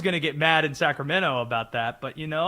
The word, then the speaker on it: Sacramento: By the way, pronating I'm pronouncing Sacramento the prop the proper way. I'm not saying the T.